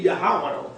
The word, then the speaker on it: Yahwah: The ancient pronunciation would be YAHWAH.